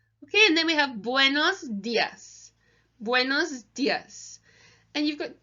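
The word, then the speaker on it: días: just go but buenos dias I'm you have an accent so you'll see on the Dia's here you've got the accent on the eye and the accent in Spanish indicates the emphasis so you want to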